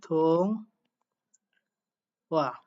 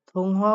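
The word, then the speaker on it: 통화: থং ওয়া। থংহোয়া উচ্চারণ করার কথা, বাট ইয়ং বাচ্চামের পরে হিউ থাকলে হিউতের উচ্চারণটা সাইলেন্ট হয়ে যায়।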